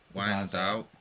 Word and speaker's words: Wijnaldum: and then it had Timber, Wijnaldum, however you pronounce that left back's name. Wijnaldum, that's it.